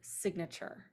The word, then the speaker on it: signature: in the base so in the base we have a long I we add a couple of things to it and now it becomes a short I in the word signature so the more stuff